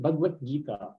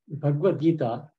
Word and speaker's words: Bhagavad Gita: So I notice many times people pronounce Bhagavad Gita as Bhagavad Gita. So there's two scriptures. There's Srimad Bhagavatam and there is Bhagavad Gita. So here you can see on the B there is no mark.